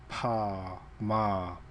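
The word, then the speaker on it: ཕ་མ: can see PA p h a meaning father PA ma p p ma p and then at the top how it's pronounced p h a m a PMA Pama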